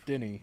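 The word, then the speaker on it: Denis: I call it villainous it's Denny Denny yeah Denny that's how the French say Dennis yeah oh wow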